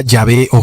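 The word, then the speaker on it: Yahvé: padre primero entendamos que la palabra ya veo jehová viene de cuatro letras que son de hb h estas cuatro letras no contenían vocales y luego algunos como tratando de pronunciarlas dijeron que jova osea jehová y otros dijeron ya ve en sí lo importante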